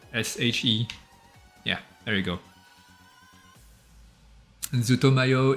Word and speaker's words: ZUTOMAYO: yeah there you go zootomayo is uh like how it's pronounced z-u-t-o-m-a-y-o ah there you go